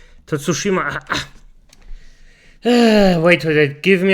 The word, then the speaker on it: Tsushima: title named ghost of toshima oh for sake I actually butchered the name tsushima wait wait wait give